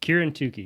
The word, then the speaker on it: Kieran Tookey: Kieran Tookey, yeah.